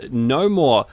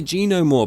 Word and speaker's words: Gnomore: the trophy or achievement no more I always want to say G no more but it's the g is silent uh the details say